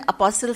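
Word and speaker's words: apostle: इसको हम इंग्लिश में अपोस्ट कहते हैं टी साइलेंट है ए पी ओ एस टी एल ई एस अपोस्ट तो लेक नहीं कहते ना अपोस्ट कहते हैं अब ये हवारी कौन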